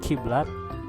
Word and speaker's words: kiblat: That's we borrowed them from the Arabic, like qiblat and qomat, but usually we familiarize them with ka. We don't pronounce it qiblat but kiblat and qomat.